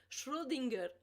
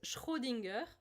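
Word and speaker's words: Schrödinger: y le dice como el gato de siempre difícil pronunciar Shudinger con la R española es aún más difícil. En francés es Schrudinger, es más fácil.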